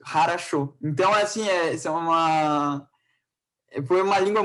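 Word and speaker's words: хорошо: Então, às vezes, a gente se confunde muito lendo, quando é para ler Harasho, que se escreve Chopovo, né, com W, em português, se fosse para isso. E a gente tem que falar em russo, Harasho.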